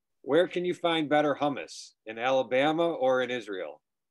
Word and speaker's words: hummus: Where can you find better hummus?